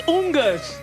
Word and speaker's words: Oangus: How do you say? It's Ungus.